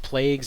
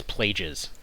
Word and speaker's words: plagues: whatever reason in it they pronounced plagues as plages like know you've had this word you know that sound not pronounced or not how it's pronounced uh but yeah all